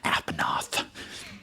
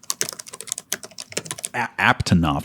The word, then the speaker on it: Aptonoth: Apanoth. Is that how you pronounce it? But hold on a second. Apanoth? It's Apanoth, right? I got this. Hold on. Aptonoth. There was another T hiding in there.